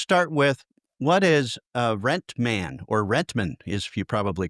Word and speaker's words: Rentman: Uh let's just start with what is uh Rentman or Rentman is you probably call it there. What how do you pronounce that for you inside the building? We call it rent man. It came from rental management.